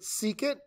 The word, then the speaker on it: secant: over then we have secant written with an SEC but we pronounce it secant it's just the reciprocal